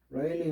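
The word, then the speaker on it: Rayleigh: 그래서 늘 설명했지만 레일리 넘버 이거 RA로 쓰죠. 그래서 발음은 선생님이 대갈로 치면 발음이에요. 레일리라고 읽으면 됩니다. 스펠링과 틀리게.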